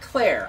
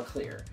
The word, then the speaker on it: Clear: then decides to just clear not CLA I swear to Christ I've always heard pronounced CLA and then in the credits it's clear c l e a r clear yep clear River that's her [